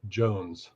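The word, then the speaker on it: Jhones: never heard of the company so that's right it's spelled j-h-o-n-e-s Jones and where and it's it's Swiss yep Swiss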